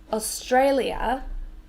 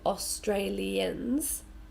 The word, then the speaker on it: Australia: you for example so Australia let me put I'm going to draw the syllables on so ah stray Li and we stress this one yep credit correct pronunciation is Australia Australia but no Australians say it like that